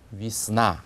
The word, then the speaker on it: весна: 그다음에 봄도 위스나 그렇게 읽지 않고 강세가 없는 예를 약화시켜서 이처럼 해서 위스나 이렇게 읽습니다. 그다음에 바다도 모려 하면서 예라고 하지 않고 여처럼 발음하면 되고요.